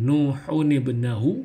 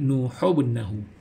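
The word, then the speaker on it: نوح ابنه: Jadi dibaca dengan Nuhun ibnahu, yang mana nun yang mati tadi kita bunyikan baris bawah untuk menyesuaikan bacaan kepada huruf berikutnya. Jadi kita membaca dengan Nuhun ibnahu, bukan dibaca dengan Nuhubnahu.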